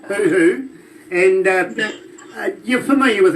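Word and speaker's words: huhu: What about Let me spell that for you. H-U-H-U, hoo-hoo.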